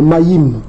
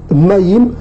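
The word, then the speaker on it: מים: Maintenant, en hébreu, ça se dit Maï, et ils prononcent le M, Maïm. Pour ceux qui prononcent le M. Or, on sait qu'en paléo-hébreu, on ne prononce pas la consonne finale.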